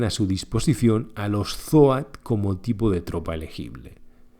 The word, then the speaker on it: Zoat: Como curiosidad, Brian Hansel dijo que su nombre se pronunciaba Joe Joat. Aunque la mayoría de gente lo pronunciaba Jat como cabra en inglés, Goat, pero con Z, aquí los llamamos zoat y tan gusto.